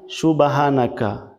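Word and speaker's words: سبحانك: করে লক্ষ্য করবেন দেখুন এখানে আছে সুবহানাকা সম্পূর্ণ ভুল বলতে হবে হাকা সুবহানাকা হা এখানে হ আকারে হা বলা যাবে না বলতে হবে হাব সুবা বলা যাবে না বলতে হবে সুব হানাকা আল্লাহুম্মা আল্লাহুম্মা বলা যাবে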